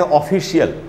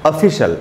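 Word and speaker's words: official: जो वर्ड है दोस्तों O double F आई सी आई ए एल इसको हम लोग पढ़ लेते हैं ऑफिशियल ऑफिशियल इसका प्रोनंसिएशन नहीं है इसका प्रोनंसिएशन है ऑफिशल आधा अ अगर होता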